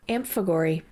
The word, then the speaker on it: amphigory: you were told it was a noun it is spelled a m p h i g o r y amp Fagor and it is a nonsense verse a rigoll